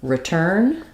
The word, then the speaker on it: return: um return uh so the pronunciation of return is uh stressed on turn and this is pronounced the same as the word turn um with the IR vowel um because the re is unstressed like we were just talking about we have the I sound there so rather than return